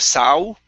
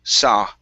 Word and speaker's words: saw: next up is the word saw right here instead of sau with an ooh it's an ah sound saw okay good uh next